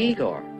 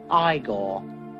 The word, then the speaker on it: Igor: it's frederick frankenstein i say you must be igor now it's pronounced igor but they told me it was igor well they were wrong then weren't they